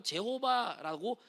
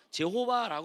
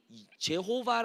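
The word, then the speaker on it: Jehovah: 읽는 그대로 읽었기 때문에 제일을 무음으로 읽어야 되는데 그냥 음으로 지저스를 읽은 것처럼 제호바 말하게 되고 오늘날 여호와처럼이 발음이 붙이게 되는 것이죠 하지만 히브리인들이 그 또 유대인들이 예수님을 예슈아 말하는 것처럼 그들이 제호바 발음은 확실히 아니라는 것은 우리가 알아야 됩니다 그렇다면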